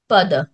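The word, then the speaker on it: पद: ইংলিশে লিখলে সেটাকে টার্ম বলে মেনশন করতে পারো, অথবা PADA এইভাবে স্পেলিংটা লিখতে পারো, পদ। সংস্কৃত উচ্চারণে উচ্চারণটা পদ হয়ে যাচ্ছে।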